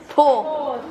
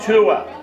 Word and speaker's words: tour: Tor. No, tour. Tour. Tour. U plus Tour.